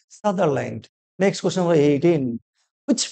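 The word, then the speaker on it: Sutherland: সঠিক উত্তর option D সাদারল্যান্ড, বা কেউ সাউদারল্যান্ড বলে কিন্তু প্রোনাউন্সিয়েশনটা কি সাদারল্যান্ড।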